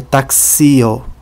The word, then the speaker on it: taxio: Na palavra taxio, a sílaba tônica está sobre o i.